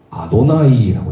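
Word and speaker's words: Adonai: 아도나이라고 읽습니다.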